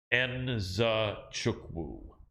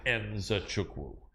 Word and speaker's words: Nzechukwu: And I remember how he told me it's pronounced Nzechukwu. Kennedy Nzechukwu, because everyone tries to squeeze it together, but you actually have the Nzechukwu.